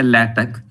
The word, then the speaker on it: LaTeX: micro packages and it has it is actually pronounced as a latic and x is silent actually and it is